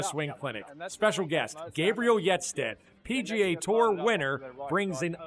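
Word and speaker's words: Hjertstedt: It's Yetstet, Y-E-T. Yetstet. Gabriel Yetstet.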